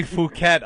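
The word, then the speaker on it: Phuket: it They say fuket on the news but it's spelled p h u k e t And if you ask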